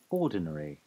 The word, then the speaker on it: ordinary: Ordinary. Ordinary. Ordinary. Ordinary. Ordinary. Okay, so the American version of the word ordinary is how I just said it. Ordinary. Ordinary. Ordinary. And the British English version is ordinary.